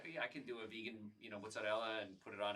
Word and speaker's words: mozzarella: When I came down here, people say ricotta, and I was like, these people don't know how to talk. Well, it turns out I was wrong. Ricotta is the right way of pronunciation, and mozzarella is correct. We always say mozzarella.